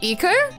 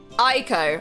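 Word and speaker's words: Eiko: Iko? Iko. Ayako? Aiko.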